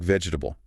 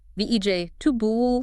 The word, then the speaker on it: vegetable: Looks like vegetable. 4 syllables again. But it sounds like sev.bl, vej tubul. Vej tubul. Yeah. 3 syllables, not 4. Okay, so syllable reduction is